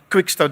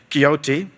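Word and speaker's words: Quixote: And then I end with a story from a guy called Don Quicksto. Depends how you want to pronounce it. Others might say Kyote.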